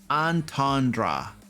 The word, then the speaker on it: entendre: it's like de antondea double entender it's something my french pronunciation is abysmal double anton dare is that what it is okay yeah yeah anyway it's one of those we're gonna call it hammer time hammer hammered time hammered time time to roll again name roll some dice entendre entendre okay cool thank you oh